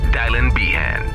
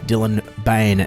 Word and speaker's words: Dylan Bane: you don't have to with dylon bien no dammit you pronounced it wrong again anyways welcome to news fighters for today's Sunday June 7 2020 I'm your host Dylan Bane now I know I